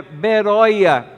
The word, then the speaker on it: Beroia: trocam B pelo B Mas se a gente for ler no original é beroia seria a pronúncia correta dessa cidade que hoje consta nos mapas como veria é uma cidade muito